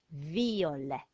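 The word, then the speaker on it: violet: an e e and the silent letter is a T and that spells the word for purple and we say it out V or viola viola try saying that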